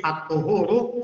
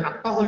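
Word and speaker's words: الطهور: Ada hadis at-tuhuru satrul iman. Bacanya at-tuhur jangan at-tahur jangan. Di hadis ya.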